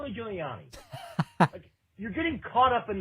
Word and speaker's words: Giuliani: how to pronounce okay i don't need you to say ruby julie annie i know what you're talking about you're talking about giuliani you're getting caught up